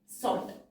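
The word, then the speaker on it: sought: every means will be सॉट, सॉट, जीएच की sound तो हमारी साइलेंट होती है, फॉर द अटेनमेंट, अटेनमेंट,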